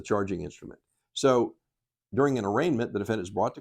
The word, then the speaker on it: arraignment: case is set for arraignment interestingly sometimes they mispronounce it they call it an arrangement it's called an arraignment